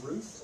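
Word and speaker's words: Routh: his last name sheriff is it Ruth or Ralph I've heard both I I say Ralph but you say tomato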